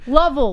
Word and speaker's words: Lovell: Lovell, like love.